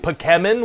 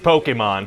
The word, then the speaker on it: Pokémon: your email said this was gonna be about put chemin what is that well it's pronounced Pokemon oh okay and what the heck is that